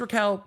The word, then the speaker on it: Raquel: names I just she's Raquel but it says Rachel I don't think you can pronounce r-a-c-h-e-l as Raquel but maybe you can maybe just it's just me so Raquel Rachel the